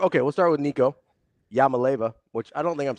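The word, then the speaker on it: Iamaleava: I think you're missing a whole syllable. Is it Iamalaeva? Yeah, it starts with an I. I don't know how you just jump to L's. I'm not. Yama. Huh. Like Yamo be there.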